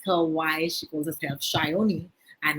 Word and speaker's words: Sayani: i'm gonna ask her why she calls herself shyoni and it's definitely a bengali connection i'm sure